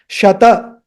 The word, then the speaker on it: Shata: And this is not Shat. Especially Hindi speakers, they will say Shat, not Shat. Shata.